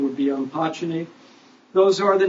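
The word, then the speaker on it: Umpachene: You probably heard it pronounced Umpachini, but a more correct pronunciation would be Umpachini.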